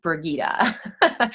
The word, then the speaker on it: Brigitte: So it's spelled like Bridget, but it's pronounced Brigitte.